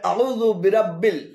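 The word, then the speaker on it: أعوذ برب: এখানে আউ এবং যুবিরাব্বিল উভয়টি ভুল উচ্চারণ। শুদ্ধ উচ্চারণ হবে আউযু বিরাব্বিল, আউযু বিরাব্বিল।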